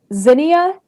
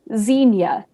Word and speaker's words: zinnia: Your word has multiple pronunciations. I'm going to give you all of them. Zinnia, Zinnia, Xenia.